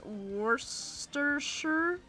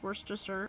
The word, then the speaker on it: Worcester: Worcester sauce is pronounced Worester. Oh, that's right. It is pronounced worster.